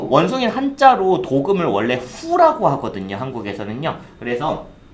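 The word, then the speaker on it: 虎: 그 다음에 호랑이는 후. 발음 시작.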